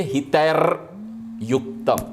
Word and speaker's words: हितैर्युक्तम: प्रकृतीनाम हितैर्युक्तम, प्रकृतीनाम हितैः युक्तम, विसर्ग हो जाएगा, उसका उच्चारण के लिए हितैर्युक्तम, हितैर्युक्तम, हितैः, प्रकृतीनाम हितैः,